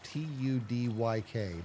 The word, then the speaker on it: Tudyk: How do you pronounce this last name? Alan Tudyk? And then so Alan and last name is Tudyk.